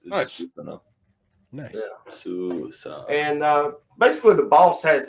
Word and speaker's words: Susanoo: It's Susanoo. For anybody that plays Smite out there like I do. It's Nice. Susanoo. Nice. Yeah. Susanoo.